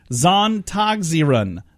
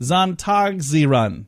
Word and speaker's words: Sonntagsleerung: Zontagsieren. They don't put the L sound in there, even though there's an L in the middle of that word.